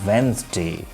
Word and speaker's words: Wednesday: Let's proceed to the next word, which is Wednesday, but we have observed commonly in people mispronounce it like Wednesday, but the correct pronunciation of the word is Wednesday.